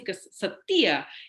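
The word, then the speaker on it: חסד: board nah kapal kasih ke setia itu diterjemahkan gak Masa Inggris berbagai macam ya faithfull salah satunya kesetiaan nah dalam bahasa aslinya itu adalah Headset ya Ceh Cecep tulisannya get lebih bacanya keset dia nah Kasih setia ini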